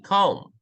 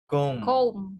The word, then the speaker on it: comb: Walang B. Comb. Comb.